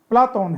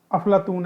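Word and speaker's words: Πλάτων: नाम दिया था रेट्रो शब्द का शुद्ध यूनानी उच्चारण प्लाटून है अरबी में किसी का विकृत रूप अफलातून है आपने देखा होगा कि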